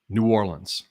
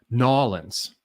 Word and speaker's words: New Orleans: um we call it new orleans it's called new orleans and that's how you say it that is the only